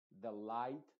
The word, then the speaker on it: delight: No trates, por favor, de pronunciar la G, por ejemplo. No trates de decir en la primera bright o delight. La G es totalmente muda y la H también es completamente muda, como te decía, solamente